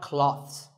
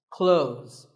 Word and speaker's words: clothes: well first of all this word is not cloths when we say clothes the th in the middle can often be silent close but it's not wrong if you say these letters with a the sound clothes that's also correct in some words people